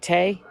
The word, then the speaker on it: Tay: Um, and Tay, is that how you say it, Tay?